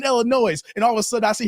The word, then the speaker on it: Illinois: is separate entities Wisconsin Illinois not Illinois for all you out there that keep saying Illinois the S is not plural the S is silent and thank you o